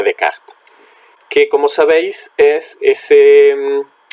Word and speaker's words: Descartes: pensamiento de René Descartes, o si queremos pronunciarlo más correctamente, René Descartes, que como sabéis es